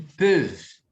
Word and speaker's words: peuvent: Muitos alunos às vezes falam peuvent, peuvente, peuvent. Não, você vai pronunciar até aqui.